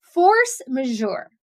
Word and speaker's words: force majeure: Force majour that's how this word is pronounced force majour force majour